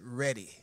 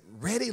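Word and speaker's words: Redie: She said, Ready. I said, did you say ready like a wedding? What did you? She spelled it for me four times, R-E-D-I-E, but she pronounced it ready.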